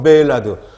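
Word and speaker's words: Maillard: 진하게 한번 보는 거예요 자 첫번째가 마이 r 발음 한글로 썼지만 다 아시죠 매일 나도 많은 이라고도 하죠 영업을 그건 매일 아드 사람이름 이래요 프랑스 사람에서 불어를 고마 이야기 된다는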